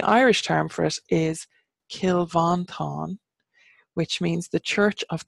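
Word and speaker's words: Cill Mhantáin: yeah but the Irish term for us is kill van Thanh which means the Church of the toothless one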